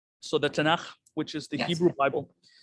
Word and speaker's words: Tanakh: Yes, I mean, it's probably easy for you to say it because the ch sound is something that's common in Islam, but I know some people have a hard time with it, but we pronounce it the Tanakh.